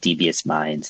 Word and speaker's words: DVS Mindz: those listening at home it's called devious minds and that's spelled DB s by the way devious mines